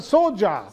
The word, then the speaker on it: Soja: super soja c'est ça soja comment vous prononcez d'ailleurs soja super sodja exa qui est donc le